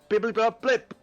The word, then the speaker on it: Bibbly Bob Blip: The correct pronunciation is bibbly bob blip.